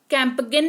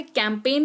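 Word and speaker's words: campaign: तो सिर्फ एन का उच्चारण होता है और जी जो है वो साइलेंट रहता है।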